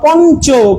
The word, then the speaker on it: পঞ্চ: তো এখানে দেখেন ইওটা কিসের মতো উচ্চারণ হলো? পঞ্চ, পঞ্চ, নয়ের মতো উচ্চারণ হচ্ছে।